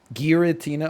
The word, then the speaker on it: Giratina: Is it Giratina or Giratina? I'm going to say Giratina pizza, which just looked unbelievably, like, it just looked horrible. It was like just a hard G. Giratina, okay.